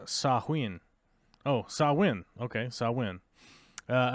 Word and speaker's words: Samhain: ancient Celtic Festival of Samhain a Gaelic word pronounced sahuin oh saw win okay so I win uh a pagan religious